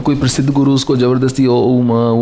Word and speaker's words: ओम: बोलोगे सच्चिदानंद तुम्हारा क्या हाल है तो शब्द ओम है जबरदस्ती उसको बाल की खाल उधड़े जाना अ उ म तीन से वो बना है तीन ही उसकी अवस्थाएं हैं ओम दिस इज द उच्चारण ऑफ़ ओम।